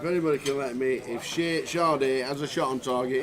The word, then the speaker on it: Sade: Shade. However you say it. How do you say it? Sade. Sade. She was a singer in the 80s.